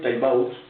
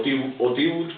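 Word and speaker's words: Tiebout: lo puede usted ver, doctor M. Harry Taibau, o Tibut, como quiera pronunciarlo, Tibut.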